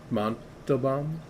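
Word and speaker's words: Montalbán: K in you know whatever how do you pronounce his name Monto bomb Monto bomb yeah Monto bomb yeah yeah everyone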